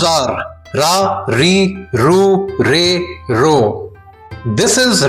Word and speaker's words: リ: The next character is ri.